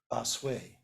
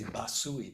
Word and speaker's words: Basui: manual that's attributed to Basui. Lots of people say Basui, but I'm sure that's not right. It's Basui. And I'm sure I don't quite pronounce it right anyway, but I know it's not Sui.